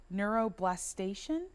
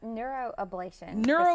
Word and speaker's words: neuroablation: but we're talking about neuroblastation. Did I say it wrong? Neuroablation procedures. I was really close, but so far.